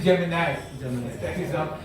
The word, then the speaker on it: Gemini: It is Gemini. That's how it is pronounced. Gemini എന്നാണ് നമ്മൾ സാധാരണ പറയുക, but they pronounce it as Gemini.